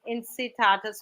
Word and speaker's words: Incitatus: Incitatus, which is the first time I'm learning this word, thank you. A Latin pronunciation, incitatus, meaning swift or at a full gallop, was the favorite horse of Roman Emperor Caligula.